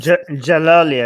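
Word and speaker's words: Djalali: Human rights groups warn that Ahmed Reza Dajalali, a Swedish Iranian scientist, is Jalali. I think the D is silent.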